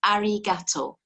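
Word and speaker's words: ありがとう: to say thanks it's arigato arigato i always think it sounds like a gator you know french gato at the end arigato but to say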